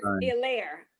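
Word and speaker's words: Helaire: Yeah, the H is silent, everybody. H is silent. Yeah, New Orleans. Hilaire.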